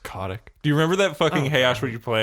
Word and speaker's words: Kotick: Bobby Kotick oh dude I believe it's pronounced Kotik do you remember that